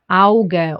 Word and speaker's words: Auge: A and U gets pronounced as au, like in Auge or auch or aus.